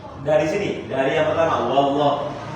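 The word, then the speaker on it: والله: Wallah wa bibirnya maju narik jangan maju lagi. Bukan wau wau tapi wa langsung gantian lidahnya naik. Wallahu 1 2 3 Wallahu lagi.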